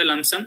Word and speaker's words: lump sum: सो लमसम, T silent in द लमसम, सो लमसम बोलते हैं उसको.